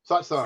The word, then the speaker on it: Satsang: sad sing, sad sing, Satsang. sad song. Shit. Satsang. Yeah, I'm so worried about the singing song that I forgot it was sad. Oh shit. Yes, satsang.